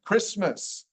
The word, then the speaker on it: Christmas: There's also some letters or some words like the word Christmas, which we all know, CH sounds like the hard C. It's like the H isn't even there. Christmas.